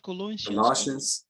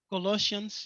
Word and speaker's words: Colossians: book of colon how do you say that colloids colossians yes the book of colossians 1 first 15 and 16.